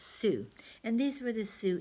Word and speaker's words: Sioux: it's a funny name it's spelled SiO UX but it's pronounced su and these were the